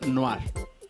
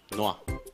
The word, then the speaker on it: Noire: Dice Samus que se pronuncia Noir. Noir.